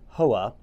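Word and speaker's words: Howa: quality made in Japan how receiver or pronounced in Japan HOA um they make the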